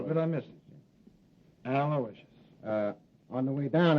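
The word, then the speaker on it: Aloysius: Terrence Alawishious Hogan.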